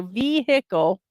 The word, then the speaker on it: vehicle: accent on the beginning so vehicle the accent is at the beginning and vehicle Dem says